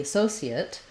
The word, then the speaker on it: associate: um the associate um or the associate has the sounds like that associate associate um and again you can use the s or the sh pronunciation second syllable stress first letter a says